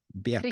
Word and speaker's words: Birkeland: Bjerkeland? Or Birkeland. B-I? Birkeland. Birkeland.